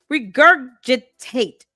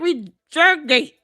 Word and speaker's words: regurgitate: They just regurgitate whatever. Um, why do you keep mispronouncing this word? Stop using words with more than four syllables if you cannot pronounce it correctly. Regurgitate.